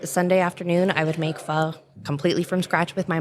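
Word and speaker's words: phở: a little bit about pho. It's actually pho. It's spelled pho, P-H-O. It's spelled pho, but I'm Vietnamese. It's pronounced pho.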